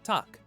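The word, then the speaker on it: takk: daughter like Anderson 13 hello in Icelandic is pronounced Hollow thank you is talk yes is yah no is nay goodbye is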